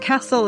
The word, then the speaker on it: Kasl: Charlotte Cassell is spelled Kasl, and she's done this book called Many Roads, One Journey.